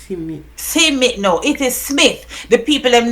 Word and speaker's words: Smith: Yo, to me, the people them name it sounds Smith. sweet. Me love hear when you have people call it boy. Me can't Simit? catch it properly. Simit. Simit. Simit. Simit, no, it is Smith.